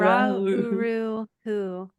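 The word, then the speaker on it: Ra Uru Hu: Ra-uru-hu, or you can Ra.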